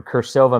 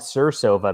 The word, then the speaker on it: Kursova: featuring our friend from kursova magazine which i originally called it sursova magazine back in the day and then you corrected me yep with hard c a latin c a latency that's fancy